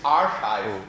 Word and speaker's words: arXiv: So it's archive, just if Archive. if you want a pronunciation guide, it's archive.